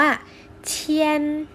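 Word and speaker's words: 千: คำ ที่ 2 ค่ะ ออก เสียง ว่า เทียน เทียน คำ ว่า เทียน คำ นี้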